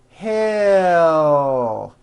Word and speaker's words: he'll: close attention to this to produce an L sound at the end of a word keep in mind that the sound of the L comes from the movement of the tongue rising it does not come from the placement of the tongue but from the actual movement watch me as I